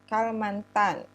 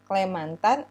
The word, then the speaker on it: Kalimantan: Karena vokal A pada kata mantana itu menurut kebiasaan setempat sulit diucapkan, maka kata Kalamantana ini dihilangkan gitu ya, diucapkan menjadi Kalimantan, yang disebut oleh penduduk asli dengan Klemantan atau Kulamantan, sehingga terus lama-lama dibiasakan, diturunkan menjadi Kalimantan gitu.